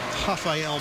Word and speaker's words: Rafael: And that's 2 on Rafael Maya. The R sounds like an H.